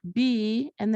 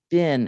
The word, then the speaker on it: been: So they had be, being, being, but we don't say bean, we say bin now.